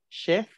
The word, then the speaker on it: Chef: La CH se pronuncia como SH. Chef, Chefin.